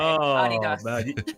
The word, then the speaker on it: Adidas: like yeah Adidas yeah Europeans pronounce it the German Way Adas you guys are you